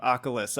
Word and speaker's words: Akhlys: Furthermore, beyond that, of course, at any point I could have just shifted it over and said, this is Akhlys, this is Nightbringer.